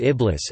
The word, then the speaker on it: Iblis: In the Quran, Satan's name is Iblis, Arabic pronunciation, I-B-L-I-S, probably a derivative of the Greek word diabolos.